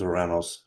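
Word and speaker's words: Ouranos: I pronounce it the Greek way which is Oranos.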